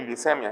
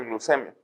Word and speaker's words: glucemia: Uno de ellos es la glucosa en ayunas, la glucemia en ayunas, no se dice glicemia, se dice glucemia. Glicemia es un anglicismo. Lo correcto es decir glucemia.